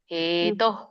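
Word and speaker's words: ಹೇತೋಃ: ಪ್ರೀತ್ಯಸ್ಯ ಜನಾರ್ಧನ ಹ ಇಲ್ಲಿ ನೀವು ಹೇತೋ ಕರೆಕ್ಟ್ ಹೇಳಿದ್ದೆ ಹೇತೋ ಅದು ಅಲ್ಲಿ ತೋ ದೀರ್ಘ ಇದೆಯಲ್ಲ ಹೇತೋ ಕಿಂ ಹೇತೋ ಕಿಂ ತೋ ಎಳಿಬೇಕು ಆಮೇಲೆ ಕಿಮ್ ಹೇಳಬೇಕು ಹೇತೋ ಕಿಂ ನೋಮಹಿ ಕೃತೆ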